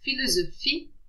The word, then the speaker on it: philosophie: The letter combination PH is pronounced F. For example, philosophie, pharmacie.